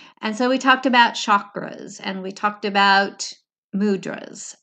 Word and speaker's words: chakras: me how to say chakras and it is that hard cha instead of sha and so if I